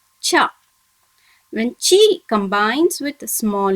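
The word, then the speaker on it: ちゃ: Similarly, the alphabet chi from the ta line, when joins with small ya, it should be pronounced as cha.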